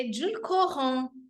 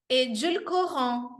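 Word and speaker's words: édulcorant: O adoçante é edulcorant. Edulcorant. Então, a palavra até é difícil de pronunciar. Eu sugiro que você dê uma treinada. Edulcorant.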